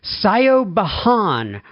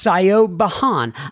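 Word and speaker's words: Siobhan: mess up this name here i'm going to spell it first and then i'm going to say it s-i-o-b-h-a-n sayo bahan writes in and she says hi john my name is sayo bahan i'm a 43 year old sydney woman sydney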